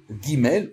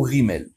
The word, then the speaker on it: Gimel: Donc ça c'est très important, cette notion de prononciation des lettres. Si vous voulez, on en reparlera. Donc elle s'appelle Gimel ou Rimel.